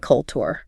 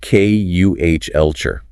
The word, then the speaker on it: culture: It is not culture. The emphasis is on the first syllable, and the tu makes a shart sound. It is pronounced K-U-H-elture.